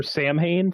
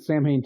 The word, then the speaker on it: Samhain: It's short for Samhain. Thank you. Yes. And they pronounce it Samhain too, and like everybody just walks by and says, but that's not how you. It's solid. No, it's Samhain.